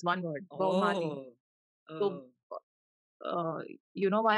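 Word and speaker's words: Baumaali: Bomali. Oh. So, you know why I'm confused? Audibly, it would sound like Bob Marley.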